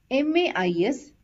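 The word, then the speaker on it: maïs: this is pronounced as ma is because there is a trema over the letter I and a and I has to be pronounced separately hope you understood the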